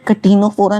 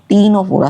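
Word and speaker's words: Ctenophora: कोई भी इसे कैटिनोफोरा नहीं बोलेगा टीनोफोरा सी साइलेंट है टीनो फोरा ठीक है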